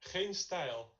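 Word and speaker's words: GeenStijl: to say, learn how to say this name, Hain style. Is that it? That's pretty good, pretty good. Yeah. Say it for me. Geen style.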